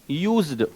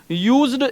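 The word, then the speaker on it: used: और my dear जब ये मेन वर्ब के रूप में काम में आता है तो इसका प्रोनाउंसिएशन होता है क्या, यूज्ड। क्या प्रोनाउंसिएशन होता है, यूज्ड इसका प्रोनाउंसिएशन होता है।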